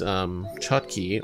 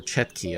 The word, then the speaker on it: chotki: However, with these chotki or chetki, I've seen pronunciations of both.